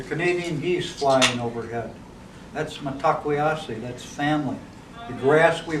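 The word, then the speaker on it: Mitákuye Oyás'iŋ: our Lakota language, we have a term called metakweyasi. I spelled it right up here. Metakwe. It's pronounced. It looks like metakwey oyasin, but when we say it in our language, it's metakweyasi.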